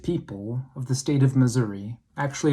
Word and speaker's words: Missouri: summer the great people of the state of missouri actually it's pronounced missouri they flock by the thousands to several of